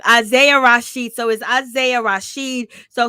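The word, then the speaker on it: Isaiah Rashad: with this situation okay elijah rasheed i think that's his name no it's isaiah rasheed i knew i was saying his name wrong wrong isaiah rashid so is isaiah rasheed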